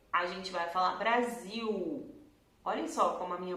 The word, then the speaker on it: Brasil: Mas quando a letra L tá depois de uma vogal, assim, no final da sílaba, ele vai fazer um som de U. Ele não vai fazer L, né? Então a gente não vai falar Brasil, a gente vai falar Brasil.